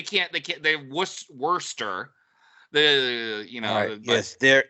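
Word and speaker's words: Worcester: leans over he's like I think it's pronounced Worster like just just just well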